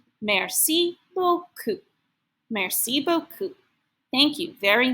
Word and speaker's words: merci beaucoup: The pronunciation guide says to read it, merci beaucoup.